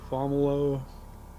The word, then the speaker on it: Fomalhaut: I say Fomalhaut. May I've not be heard it- right. I've heard it said Fomalo. Hmm. I think that might be a French pronunciation.